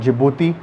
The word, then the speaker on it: Djibouti: Silent is called Djibouti.